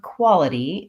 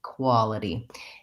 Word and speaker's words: quality: is syllable stress and in the word quality the first syllable is stress so we have long qua and then a short liddie quality and for those of